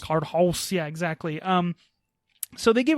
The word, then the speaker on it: Cardhaus: That is spelled Cardhaus. So House. Cardhouse.